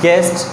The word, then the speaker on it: guest: This is गेस्ट। ये यहाँ पे भी जो यू है वो भी क्या कर रहा है, एज अ साइलेंट लेटर मतलब काम कर रहा है।